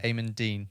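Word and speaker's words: Aimen Dean: Am I pronouncing it right? Eamon Dean. Eamon Dean.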